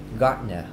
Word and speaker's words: gardener: Các bạn nghe lâu lâu các bạn nghe không được là tại vì các bạn không biết chữ này nó đọc là gardener. Nó sẽ bỏ đi chữ den ở đây.